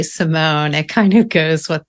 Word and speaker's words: Simon: And I guess since my last name is spelled like Simon, but I say Simone, it kind of goes with the whole.